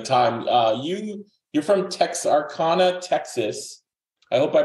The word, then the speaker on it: Texarkana: for taking the time uh you you're from Texarkana Texas I hope I pronounced that right it's Texarkana Texarkana wait wait wait wait wait wait wait